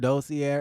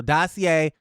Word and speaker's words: Dossier: I was pronouncing it dosier and listen I've been pronouncing it though Sierra for years and they never corrected me but you guys were saying dossier so dossier dosier listen d-o-s-s-i-e-r dossier or dossier either way